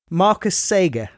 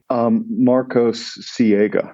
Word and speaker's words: Marcos Siega: Is it Marcus Sager? Marcos Siega. I was in the ballpark.